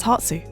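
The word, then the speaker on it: 発: know one last thing the kanji for departure is literally pronounced as hatsu the clothes were here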